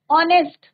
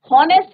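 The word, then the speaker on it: honest: हवा नहीं बोलते इसको, ऑनेस्ट, हॉनेस्ट नहीं बोलते।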